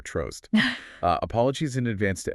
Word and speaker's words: Trost: I'm going to go with trollst rhyming with toast, but you know with an R trost.